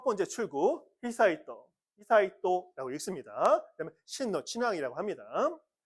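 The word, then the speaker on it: 悠仁: 어 첫 번째 출구 히사이또 히사이또라고 읽습니다.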